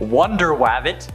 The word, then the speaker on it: Wonder Wabbit: crew number 14 which also features superheroes like Wonder wabbit that's actually how it's said aquaduck bat Mouse